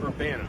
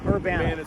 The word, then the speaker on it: Urbana: Urbana. Urbana. Urbana's how it's pronounced, yeah.